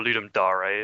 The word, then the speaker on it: Ludum Dare: I over the last weekend, Saturday and Sunday, took part in the most recent Ludum Dare, or Ludum Dare if you want to pronounce it properly, but fuck Latin.